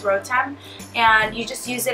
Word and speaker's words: Rotem: It's just Rotem, my name, which, by the way, if you don't know, it's pronounced Rotem.